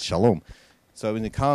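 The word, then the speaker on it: שלום: the Americans you know Americans are hello Shalom they can't say shalom shalom it's shalom so it was in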